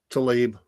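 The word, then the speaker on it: Tlaib: It's soft Fox, but uh the squad member Rashida Talip Tailay, however you say her name. Is it Talib? Talib.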